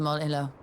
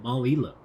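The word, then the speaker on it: Mol Iloh: I have been pronouncing it horribly wrong. Because I assumed that was two L's right next to each other. But now that I look at it, the words don't get any bigger.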